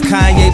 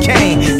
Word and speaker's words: Kanye: Now all I need is y'all to pronounce my name. It's Kanye, but some of my plastics still say Kane.